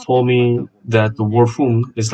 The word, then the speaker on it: HUM: Someone once told me that the word Hoom is like the father and mother coming together, and that is exactly right. It's spelled H-U-M, so let's try this Hoom sound.